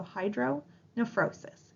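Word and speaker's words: hydronephrosis: term hydr nephrosis again remember that that pH sounds like an F in pronunciation so Hydro neosis hit pause if you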